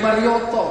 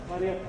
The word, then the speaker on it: Marriott: Sekarang jadi Marioto kalau nggak salah. Apa? Marriott. Iya, jadi Marriott ya.